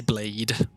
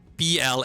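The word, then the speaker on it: Blaidd: Yeah, they say blade, which is like if you only see it written down, I could understand that, right? Like B L A I D in English would be pronounced blade.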